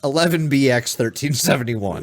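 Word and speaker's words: 11B-X-1371: what's it from just let him spell it it's spelled one one b dash x-1371 that's how you pronounce it that's how you pronounce it or for the layman 11bx 1371 is the title of the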